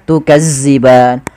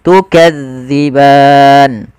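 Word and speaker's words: تكذبان: maka gigi Sari atasza Jangan dibaca dengan zza Maka jangan baca tukazziban tapi kita bacanya tukadziban kemudianfal ban kembali lagi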